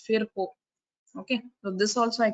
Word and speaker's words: Virchow: So English pronunciation is virtue, but German pronunciation is Virchow.